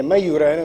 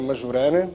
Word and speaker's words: Majorana: eu mas mas basicamente o J não se pronuncia como os portugueses pronunciam pronuncia-se como I mas é maiorana não é majorana maiorana já aprenderam houve